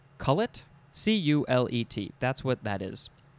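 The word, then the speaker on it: culet: And that is called the, well, there's a couple of ways to pronounce this. Is it a coulette, a coulée, a cullet?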